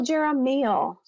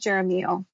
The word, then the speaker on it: Jeremiel: at the perfect time archangel jeramial i believe another name he goes by is romeo and i've heard different people pronounce it in different ways tonight i'm going with jeremiah so this is a